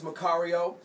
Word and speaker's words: Macario: The name is Macario. It's spelled M-A-C-A-R-I-O.